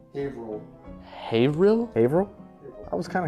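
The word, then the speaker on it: Haverhill: hover hover Hill ha Hill final answer is pronounced havil havil Hil I was kind of close Okay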